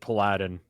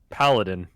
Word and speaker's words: paladin: the thing yeah he he pronounced it palladin because he was like team pool Adhan versus such and such and he was supposed to be a professional - yeah but he was an idiot you didn't know how to pronounce paladin it's not that it's